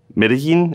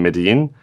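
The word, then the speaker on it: Medellín: best ice cream PWA ever in, let's say, Medellin, is that how you pronounce that? Perfect. Yes. So if you build the best PWA to order ice cream online in Medellin, then I don't know about that, especially if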